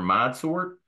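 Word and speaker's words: ModSort: you can use a search engine and enter mod sort and uh you can find us several different ways there and mod sort is spelled m o cap s o r t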